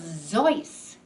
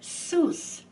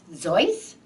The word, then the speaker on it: Seuss: middle name which was zoice and it was spelled s-e-u-s-s but people in the united states pronounced it soos so he thought zoys seuss well i think